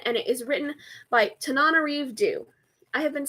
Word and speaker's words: Tananarive: released in 1997, and it is written by Tananarive. I have been saying her name wrong the entire time that I've been promoting this book and talking about it, but I'm pretty sure that it is pronounced Tananarive.